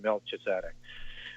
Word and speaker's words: Melchizedek: the order of melchizedek or however you want to pronounce it i like to go milky as in taking it right back to molech but i know most people pronounce that in melchizedek but understand that they